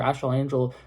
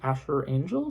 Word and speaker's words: Asher Angel: The younger actor, I think that the younger actor, Ashel Angel, I think I might have just said his name wrong. Asher Angel, something like that.